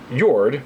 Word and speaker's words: Jord: Jord, the wizard, I'm assuming the pronunciation is Scandinavian, J O R D.